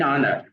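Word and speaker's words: honour: ठीक है, एन एन आनर। ठीक है, आनर के साथ देख लीजिए, आनर किससे स्टार्ट हो रहे हैं, एच से स्टार्ट हो रहे हैं, लेकिन साउंड किसकी आ रहे हैं, ओ की आ रही है।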